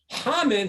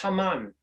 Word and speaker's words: Haman: The word hamin is the same word as Haman, just pronounced differently, spelled the same way.